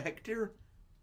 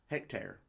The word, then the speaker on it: hectare: A hectar. It's t a r e bear. Hectare. I don't know. Like tearing you straight to riches. Hectare. Okay. Hectare. Not Hectar.